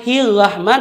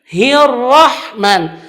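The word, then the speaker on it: الرحمن: kesalahan ketika dia membacakan Hirohman Nirohim dia membacakan hiu roh dengan huruf H disitu hati-hati Itu huruf H bukan bacanya hilwah mah tapi hirohman dan huruf-huruf itu tebal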